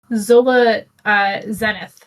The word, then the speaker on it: Zola Zenith: It is Zola Zenith. Like Solo Zenithin.